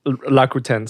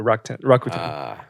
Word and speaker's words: Rakuten: So like it's actually luck 10, but in Japanese it's laku, like the Japanese pronunciation Rakuten, so Rakuten.